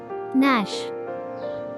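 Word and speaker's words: gnash: ন্যাশ, ন্যাশ, কর্মর শব্দ, দাঁতে দাঁত ঘষা। ন্যাশ, কর্মর শব্দ, দাঁতে দাঁত ঘষা। এখানে মার্ক করা জি লেটারটি একটি সাইলেন্ট লেটার।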